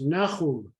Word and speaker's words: Nahum: No, that's pronounced Nahum. Nahum. Okay. That middle consonant is one that doesn't exist in English, so many English speakers, but it's Nahum.